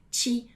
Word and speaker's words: ti: Repara que eu não falei ti, mas eu falei ti, ok? Em italiano, esse T sempre vai ser pronunciado com a língua ali quase encostando nos dentes. Ti, tá bom?